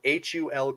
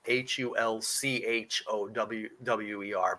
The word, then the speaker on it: Hulkower: It's spelled wrong in the document. It's spelled Hulkower, but I think it's actually Hulchower.